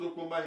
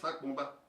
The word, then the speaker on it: Sopomba: See the way they wrote Sopomba here? Sopomba, that is the right way to say it. It's not Sakpomba. People say Sakpomba Road, Sakpomba Road. There's nothing like Sakpomba Road. It's Sopomba Road.